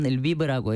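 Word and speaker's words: Lviv: 리브. 리브. 아이고 한국 발음으로 어떻게 말해야 되나요? 우선 리브라고 해요.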